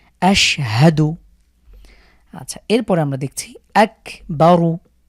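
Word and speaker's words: أَشْهَدُ: তো এই শিনের উপরে যে সুকুন আছে এই জন্য আমরা পূর্বের হরকতের সাথে মিলিয়ে পড়ছি আশহাদু।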